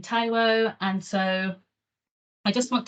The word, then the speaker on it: Taiwo: title of my slide I've also put how my name is pronounced that will come into play into why I do that in this talk um but yeah follow Shadow I can mine taiwo and so I just